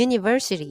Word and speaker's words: University: 시작합니다 그러니까 언이 아니라 글자가 모음이라 하더라도 실제 발음이 유기 때문에 기 때문에 A University 이렇게 쓰셔야 돼요 자 그다음에 어는 아까랑 마찬가지로